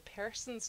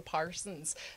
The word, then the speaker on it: Persons: With my accent, I should spell it P-E-R-S-O-N. Yes, the Persons, not the Parsons.